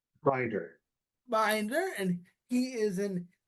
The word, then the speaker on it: Binder: Binder.